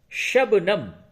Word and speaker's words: شبنم: بستہ کہتے ہیں، بستہ۔ شبنم، شین بے زبر شب، نون میم زبر نم، شبنم۔ شبنم کہتے ہیں اوس